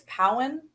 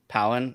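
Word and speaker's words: Pau'an: think so, because it's based off of the planet Utapau, so I think it's Pawan. Powen, yeah.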